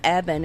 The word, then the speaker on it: Eben: me sharing the knowledge his name is evan and it's spelled e-b-e-n and it's short for